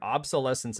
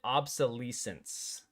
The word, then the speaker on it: obsolescence: Obsolescence is how you're supposed to pronounce it, I'm pretty sure.